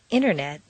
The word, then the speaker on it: internet: the button exercise 47 rule five the silent t t and N are so close in the mouth that the T can simply disappear repeat one interview two interface three internet four Interstate five interrupt